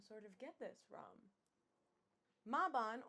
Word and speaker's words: Mabon: Mabon, or Mabon as many Americans pronounce it, is one of the 8 sabbats on the Wheel of the Year.